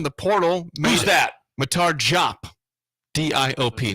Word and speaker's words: Diop: Matar Diop. D-I-O-P. Not Diop, but Diop is how you say that last name.